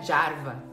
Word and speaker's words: Jarva: Ela tem um blog, Adriana Jarva, com J, Adriana Jarva, ela pronuncia Jarva, né?